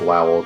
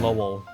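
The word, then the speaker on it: Lowell: I I keep pronouncing it Lowel cuz I think of howl, you know. Yeah. Just think of it as think of it as um the album Carrie and Lel by Sufan Stevens and then you'll remember how to pronounce it cuz it's the same name uh spelled the same and everything.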